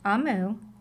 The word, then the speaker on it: Omu: note to the reader ammu pronounced ammu is the Igbo term for queen thank you ammu bye